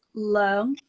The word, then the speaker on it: Leung: so it's Leung, Leung. Leung, Leung. Yeah, Leung. Yeah, it's pretty good.